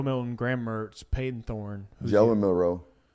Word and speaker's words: Milroe: Jalen Milroe. Jalen Milroe. That's it. No, Jalen Milroe.